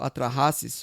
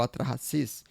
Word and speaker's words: Atrahasis: O nome pode ser pronunciado Atrahasis ou Atrahasis.